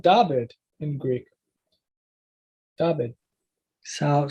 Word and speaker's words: David: Like for David, originally it was Dawid or Duid, one of those, Dawid or Duid. But over time, you see David. But guess what? In Greek, it's sometimes it's spelled David in Greek.